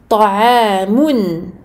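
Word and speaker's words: طعام: Donc tanwin plus hamza, donc les lettres de la gorge, on prononce clairement le nun du tanwin. Ta'amun.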